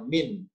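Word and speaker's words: مِنْ: Berikutnya, karena ada petunjuk bahwa yang merah adalah huruf, maka mim sama berikut ini bacanya min, tidak mungkin man. Kenapa? Karena sudah dibantu bahwa yang warna merah adalah huruf, maka berbunyi min.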